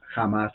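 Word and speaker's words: Hamás: por el grupo terrorista jamás la H se pronuncia como J eh tiene como propósito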